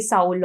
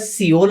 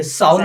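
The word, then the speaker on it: Seoul: इज a difference because people pronounce it एज सिओल also and साउल also and सोल also so what is the correct one so there is nothing such as सिओल first of all when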